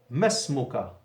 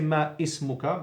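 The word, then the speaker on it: ما اسمك: Masmuka. Don't say ma ismuka, because we have a weak hamza and it's not pronounced.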